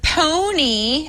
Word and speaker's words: Pwnie: The Pony, as in PWNIE, the Pony Awards were announced at Black Hat last night.